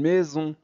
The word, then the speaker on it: maison: on on son une maison ici je prononce son et ici Z Z parce que S lorsqu'il est situé entre deux voyelles se prononce Z d'accord parfait bienvenue chez